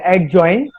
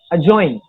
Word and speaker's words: adjoin: It's not adjoin, the word is adjoin.